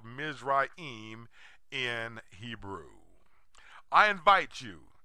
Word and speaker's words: Mizraim: Today, Egypt wears the English name of Ham's second-born son, whose name is pronounced Mizraim in Hebrew, but Egypt in English.